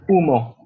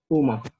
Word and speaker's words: humo: So in this case, It's a just H and it's pronounced humo. So the H doesn't sound at all, but it has to be written. Humo.